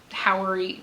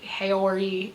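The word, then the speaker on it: haori: way that the lapels hit, this feels very Howery Hayori. H A O R I. I can never pronounce it in like perfect condition.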